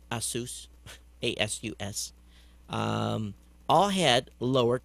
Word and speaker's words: Asus: machines and sony toshiba azus probably pronounced that wrong asus a-s-u-s um all had